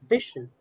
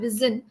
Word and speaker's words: vision: actually Vision okay but if you notice carefully the sh and J sound are mixed so instead of completely eliminating the sh sound and making it visen it is much easier